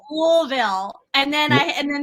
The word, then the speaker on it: Louisville: two T-shirts one was louville it's pronounced like marbles in your mouth they're like louville yeah that's how they do it l they go louville louville and then I and